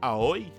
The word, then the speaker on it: Aoi: I can't even pronounce that right, by the way. It's really, I don't know, it feels really weird to me to pronounce it. It's Aoi. Oi.